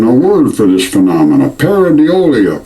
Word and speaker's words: pareidolia: There's even a word for this phenomenon, pareidolia, pronounced Paradeolia.